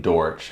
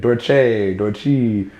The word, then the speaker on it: Dortch: I usually get called, most people can't pronounce it right. What is it? It's Dortch. Like, you said it right. Yeah. You know, people, like, I literally be at shows like Dortchy.